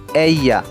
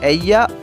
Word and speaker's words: ella: She is called ella. Ella. You can say ella or ella. Ella. The pronunciation depends on the country.